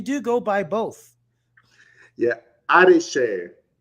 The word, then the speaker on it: Adeseye: Yeah, Adeseye or Adeseye. So the first part is Ade. So the two words combined together.